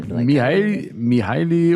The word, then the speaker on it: Mihaly: I would say Mihaly would be something like Michael, I would say.